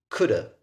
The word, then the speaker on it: could have: Entonces, eso ya es pronunciado coulda. ¿Se acuerdan el would and have? Era woulda, coulda.